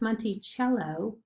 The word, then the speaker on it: Monticello: on the back of the nickel it is pronounced monty cello rather than monticello it looks like it would